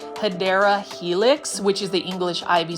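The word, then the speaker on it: Hedera helix: or what you call the correct way to say it is hyera Helix which is the English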